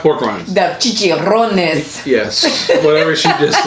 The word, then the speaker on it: chicharrones: So these are flavored chicharrones. Chicharrones. Okay, there you go. You're just like Aaron from... You have to roll your tongue. You have to roll your R's with Latin language.